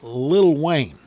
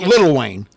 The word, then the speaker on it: Lil Wayne: Anyway, this rhyming fiasco goes back to a 2008 song called "Can't Believe It," featuring Lil Wayne. Not Little Wayne. Lil Wayne.